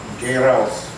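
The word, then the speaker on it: Geh raus: Now what I'm going to do is I'm going to go outside, and the command for that is gay rouse. So it's like the word gay and then rouse.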